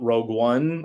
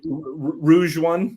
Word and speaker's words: Rogue One: I thought Rogue One, again, flawed. It's pronounced Rogue One. Thank you. Rouge One.